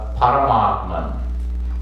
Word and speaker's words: Paramatman: It's called Paramatman. P-A-R-A-M-A. You pronounce it long. P-A-R-A-M-A. T-M-A-N. Paramatman. Parama and Atman.